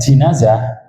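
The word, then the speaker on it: جنازة: dalam keranda itu oh jenazah terus kemudi kas dibacanya jinazah ismul lin nayi wahua fihi yaitu ya kerandainya itu yang di dalamnya ada mayit kalau enggak ada mayit enggak diundang jenazah.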